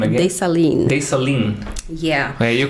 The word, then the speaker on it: Dessalines: And Dessalines is the founder of the country. Say the name again. Dessalines.